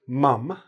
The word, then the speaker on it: mum: Well, the British say mum. The Canadians, Americans, United States people say mom. They sound very similar, but if you pay attention, you can actually hear the difference between mom and mum.